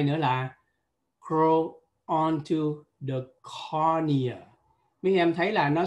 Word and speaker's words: cornea: Thì đây về danh pháp, cái chữ này chúng ta phát âm là cornea. Cornea giống như là courier, giống như là Hàn Quốc phải không?